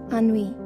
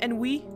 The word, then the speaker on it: ennui: Ennui.